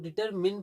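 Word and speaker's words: determine: देखिए इसको डिटरमाइन की जगह हम लोग डिटरमिन पढ़ेंगे।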